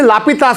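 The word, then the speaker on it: L'Hôpital: this form व यूज ल हॉस्पिटल rule ये याद रखना है इसे लापता रूल भी बताते हैं बच्चों लोग this is also pronounce as लापता रूल और एल हॉस्पिटल रूल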